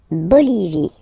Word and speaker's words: Bolivie: La Bolivie. Okay, final E, not pronounced. La Bolivie.